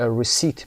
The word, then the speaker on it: receipt: a receipt دقت داشته باشید برای نوشتنش پی دارید اینجا، تلفظش پی تلفظ نمیشه. a receipt مثل رسید خودمون هست اما ت در انتها تلفظ میشه.